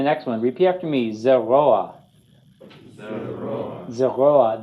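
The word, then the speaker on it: זרוע: Zeroa. Zeroa. The accent is on the chol and vav. Zeroa, because the patach under the ayin is a furtive patach.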